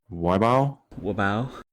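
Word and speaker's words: Wibaux: And then you have Treasure County, Golden Valley County, and how would you pronounce that 4th one? Wabao.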